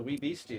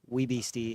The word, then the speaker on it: Wee Beastie: I still prefer the Wee Beastie though.